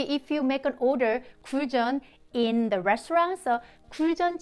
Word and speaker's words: Guljeon: but it's a group cool john sounds like john the the guy's name so cool john like you can say cool john but don't care about